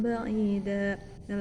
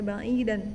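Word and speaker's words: بعيدا: Contoh seperti dalam kata faqad dhalla dhalalan ba'ida. Nah, lafaz ba'ida ini tidak dibaca ba'idan tetapi dibaca ba'ida karena hukum bacanya dinamakan mad iwad.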